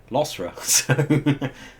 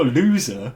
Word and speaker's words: Losra: And then we're Losra, so lots of people are like, oh, loser, is he loser? Yeah, I get a lot of that.